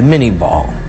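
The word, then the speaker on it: Minié ball: end over end today we call it the minie ball little corruption of the French pronunciation but a conical shaped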